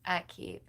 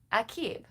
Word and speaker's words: Akib: The pronunciation is Akib. Akib.